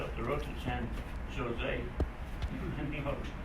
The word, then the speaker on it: San Jose: No, he said, not San Jose. He said, San Jose. Now, how do you get Ho out of a Joe? He said, while you're here in California, he said, remember when you see a J, pronounce it with a H sound.